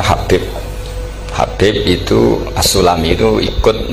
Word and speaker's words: Habib: Itu di harokatnya kitab itu ada yang nulis Hubab, yang benar yang benar itu bacanya Habib.